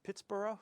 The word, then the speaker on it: Pittsburgh: it's a much more if you go to the sort of the English sounding pronunciation or Scottish sounding pronunciations you get that bur sound instead Edinburgh Scotland pronounced